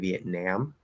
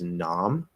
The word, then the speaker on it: Vietnam: i pronounce it and the way that i have heard it more from people who aren't older is nom um so i don't